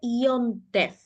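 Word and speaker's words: יום טוב: Yom Tov. En Yiddish, esto, y se escribe igual que en hebreo, se dice Yom Tev.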